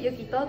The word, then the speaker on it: 幸叶: 幸せに叶えると書いてゆきとと読みます。